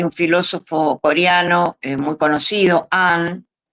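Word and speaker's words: Han: Bueno, muchos se preguntan si ese tipo de histeria, por ejemplo, hay un filósofo coreano muy conocido, An, se escribe H A N, muy conocido, un importante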